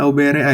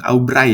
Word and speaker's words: AUBRAI: AUBRAI karena dia ini kok cara bacanya kok kamu bacanya AUBRAI sih Min. Jadi dia ini AI ya. Jadi membacanya ya nggak mungkin Aubray ya. Ya nggak mungkin kalau menurut aku sendiri.